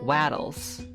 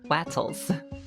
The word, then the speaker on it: Wattles: Also, as I look at this video, I think the creator is, I don't know how to say it, but like Waddles. Wattles. There's T's, not D's.